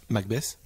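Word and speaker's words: McBess: Avec les singes dessinés, enfin t'avais la tête de mort des Bored Ape, mais dessinée par Macbeth. Macbeth, ça s'écrit M-C-B-E-S-S.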